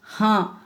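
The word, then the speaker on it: हाँ: ஹா அப்படிங்கும்போது இங்கே சந்திரபிந்து வந்துருக்கு. நம்ம மூக்கில் தான் அது வந்து உச்சரிக்கணும். ஹா அப்படின்னா ஆமாம்னு அர்த்தம்.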